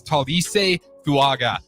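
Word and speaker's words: Tuliese Fuaga: 14 to New Orleans Saints uh and to pronounce his name it is Talis fuaga out of Georgia or excuse me out of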